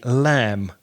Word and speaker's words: lamb: AM B but the B is not pronounced so we say lamb I'm going to have some lamb for lunch or look at those lands playing in the field so be careful not to pronounce that B or make it sound like a P because the lamp is